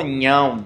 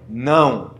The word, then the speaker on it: não: palavra não ok aí mencionaram que falavam nhão mas não é nhão É não a frase que Eu mencionei